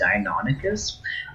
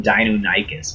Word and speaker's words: Deinonychus: how to tame a Deinonychus. I always called them Deinonychus when I was a kid, but apparently the actual pronunciation is Deinonychus.